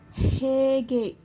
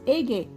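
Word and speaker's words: ಹೇಗೆ: See, this he, sometimes they will replace it as a. They will pronounce it as ege. Hege is some people will tell hege as ege. There is no word called ege in Kannada.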